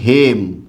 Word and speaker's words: হেম: আমি একটা শব্দ লিখলাম হেম কি লিখলাম বলুন তো হেম এটা একটি সংস্কৃত শব্দ তাই এটার উচ্চারণ হ্যাম কখনোই হবে না ঠিক আছে এটার উচ্চারণ